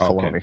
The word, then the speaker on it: Filoni: It's the I is not pronounced. It's Filoni.